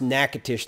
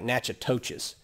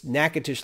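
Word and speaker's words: Natchitoches: c a t o c h e is pronounced nakatish though it might look like nachotoches it's nakatish louisiana in the in the french settlement of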